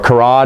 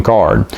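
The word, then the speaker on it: Karrde: is talon card or karad is what i used to call him even though that's not how you say his name to lone card i'm trying to get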